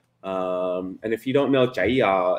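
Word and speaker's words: chả giò: And if you don't know, jaya is the Vietnamese pronunciation of saying egg rolls.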